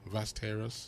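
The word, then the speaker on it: Västerås: The airport name, Vasteras.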